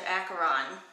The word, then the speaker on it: Acheron: See, there's no comma after Acheron, even though you might want to pause because it rhymes with gone.